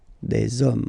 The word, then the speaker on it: hommes: homme, and after that you just put the s at the end. You don't pronounce it, so you get des hommes, okay?